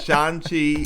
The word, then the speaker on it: Shang-Chi: We pronounce it Shang-Chi rather than Shang-Chi because the main star, Sumu Liu, whose name I may be mispronouncing. Sorry. That is how he pronounces it, so we will